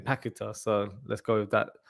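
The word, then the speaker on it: Paquetá: through pakita so I'm I've been calling paquetta all this time so commentary on saying pack guitar so let's go with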